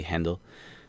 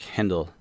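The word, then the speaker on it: Handel: handle or you know a lot of people pronounce it handle but it's he was German so it' be handle uh gorg Friedrich hendle um composed his uh messiah in some Breakneck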